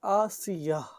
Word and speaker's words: آسیہ: نام نہیں ہے۔ آسیہ، آسیہ کا اصل تلفظ ہے آسیہ آخر میں۔ اس کا معنی ہے،